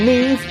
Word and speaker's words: Neve: Along with Neve, that rhymes with Steve.